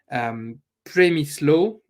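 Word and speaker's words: Przemysław: After a pass from Premislo, I'm going to have to ask my Polish friends how we pronounce his name. Premislo Frankowski, I'm comfortable with, but his first name sounds to be Premislo.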